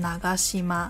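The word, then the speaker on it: 長島: 样是岛，但是在长岛这个姓氏里面它只会念成 Nagashima，这是因为在长岛这个字里面已经有一个 ga 这个浊音了，所以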